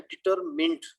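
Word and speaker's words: determined: लेकिन अगर आप इसको प्रॉपर डिक्शनरी चेक करते तो ये होता है लफ्ज है डिटरमिंड, माइंड नहीं है, मिंड है, डिटरमिंड।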